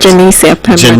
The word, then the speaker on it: Janicia Pemberton: Unit, a young lady by the name of Janicia Pemberton. Did I get the pronunciation correct? Janicia Pemberton.